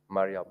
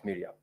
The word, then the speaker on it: Mariam: that in your contributions you made reference to the distinguished Senator Omar shik Mariam as Miram I'm very sure that is because of where you come from otherwise the name is pronounced as Maria thank you very much